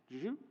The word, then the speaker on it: Zhou: Zhou. And Houston Morgan. Or is Morgan the more traditional pronunciation?